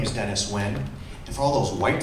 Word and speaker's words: Nguyen: my name is dennis nguyen and for all those white folks out there that are gonna challenge uh pronouncing asian last names it's win with win that's that's that is